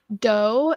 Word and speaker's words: Do: It is called The Future, and that is spelled Futur with Chris Doe, and it's Doe is Do.